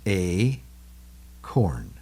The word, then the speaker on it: acorn: It's two syllables. A, corn. A, corn. There's two syllables there. And when the A is at the end of any syllable, it takes the long sound, right?